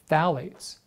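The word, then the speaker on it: phthalates: emit high amounts of phalates this is a a funny a funny term pH th phit so it's a silent pH uh hold on I've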